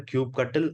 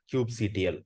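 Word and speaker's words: kubectl: Cube cutle Get nodes it can be either Cube cutle or cube CTL whichever uh is your pronunciation preference and uh so once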